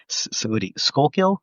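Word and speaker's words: Schuylkill: Skullkill. Is that how you pronounce it?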